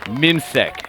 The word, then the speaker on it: Mimsek: England number 13 is called Mimsek, so pronounce Mimsek. Well, that's fantastic information for me to know. Mimsack, I'm going to make a note of that right now.